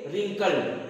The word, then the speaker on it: wrinkle: ये इसमें W क्या है, साइलेंट है, जैसे आप लोग WRITE को क्या रीड करते हो, राइट, ऐसे सेम टू सेम WRINKLE को हम क्या रीड करेंगे, रिंकल, क्या रीड करेंगे, रिंकल।